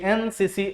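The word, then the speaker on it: NCC: अब ये ध्यान देना है कि इसका उच्चारण क्या है, तो एन, हमको फिर वहीं पहुंचे, यहां क्या दिया एन, यानी इसका साउंड जो है वो वॉवेल का है, इसीलिए बाबू आप आंसर भरेंगे बी यानी एन।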